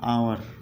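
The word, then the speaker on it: hour: एन आवर, इसमें एच की sound क्या होती है होती है, इसमें है की साउंड नहीं आ रही है।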